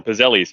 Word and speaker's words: pizzelle: Pizzelles. Or if you're from Baltimore, Pizzellis.